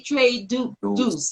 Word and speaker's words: Tre Deuce: Tre Deuce. Did I say it right? Yes, you did. You said it correct.